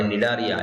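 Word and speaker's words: Cnidaria: बघा सिलेंडराटा किंवा याला निडारिया प्राणी असं सुद्धा म्हणतात सिलेंडेराचा स्पेलिंग बघा विद्यार्थी मित्रांनो सी ओ इ असलं तरी त्याचा उच्चार सी असा केला जातो आणि निडारिया याच्यामध्ये सी सायलेंट आहे या प्राण्यांच्या शरीराचा आकार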